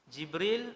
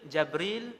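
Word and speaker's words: جبريل: Jibril, Jabril, Jibrail, Jibrail. 4 cara baca. Semua sahih.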